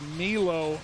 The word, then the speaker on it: Milo: Actually, Milo is how he wants his first name pronounced, and Milo just made a play.